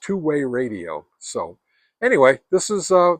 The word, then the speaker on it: TWYRDIO: Anyway, it's uh twe audio, but uh it's pronounced two-way radio.